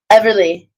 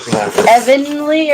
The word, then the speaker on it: Everly: I feel like Evanly or Eberly. Everly. Everly. I lost my notebook. Somebody wrote that down for me. You not spelled like Beverly without the B.